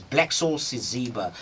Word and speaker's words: Blacksoul Siziba: Today in studio, we've got a guy known as Blacksoul Siziba.